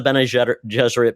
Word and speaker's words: Bene Gesserit: and it's really about the forming of the Bene Gesserit. Basically, this group, yes, that's exactly how I pronounce it.